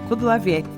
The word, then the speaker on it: Kudlawiec: Ô Carla, eu pronunciei correto, é Kudlawiec ou tá errado? Tá perfeito, pronúncia correta, Kudlawiec.